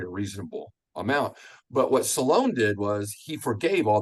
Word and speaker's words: Solon: His name's normally pronounced Solon or Solon in our books, but his name is actually pronounced Solon.